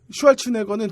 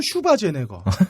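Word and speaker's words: Schwarzenegger: 아놀드 슈왈츠네거는 진짜 플레임이 뭔지 모르겠어. 그러니까 늘 보면 아놀드 슈바제네거, 아놀드 슈왈츠네거, 아놀드 슈와제네거. 슈왈츠제네거. 쓸 때마다 달라요. 네. 그리고 또 오스트리아 발음으로 아르놀트 슈바르츠네거라고 한다고.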